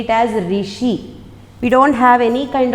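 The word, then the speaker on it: ऋषि: We have in Telugu, but in Hindi we don't have Ru. So how to pronounce this letter, this word? We have to say it as Rishi.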